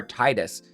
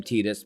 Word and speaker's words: Tidus: Final Fantasy X between Tidus and Yuna, or Titus. I hate the name Tidus, but that's how Dissidia pronounces it.